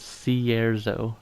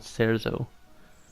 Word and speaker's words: Cierzo: Alright, so they pronounce it Cierzo, not Cerzo.